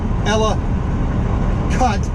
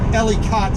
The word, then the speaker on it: Ellicott: where ellicott city is e-l-i-l-a ella cut c-u-t know that's that's the baltimore way of pronouncing you know ellie cott city we would say ellicott you know a big amount of slurry going on in the baltimore accent right turn coming up